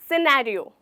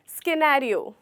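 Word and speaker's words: scenario: क्या कहते हैं इसे, सिनेरियो। सिनेरियो, ना कि स्किनेरियो, बिल्कुल नहीं। यहाँ पर भी हमारा सी लेटर साइलेंट होता है।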